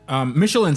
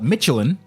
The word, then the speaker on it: Michelin: cars cars so when Michelin sent me out there but in the UK they call it Michelin which is wrong and it's funny because